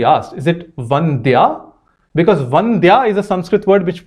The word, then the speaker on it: Vandya: So he asked, is it Vandya or Vandya? And she confirmed, no, it is the Mahaprana sound.